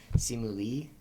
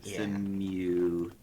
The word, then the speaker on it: Simu Liu: Simu Lee. So let me look. Simu Liu.